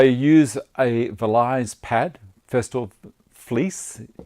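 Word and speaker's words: Vlies: a relies pad festival fleece is how it's pronounced spelt VL IES it's an 800 grit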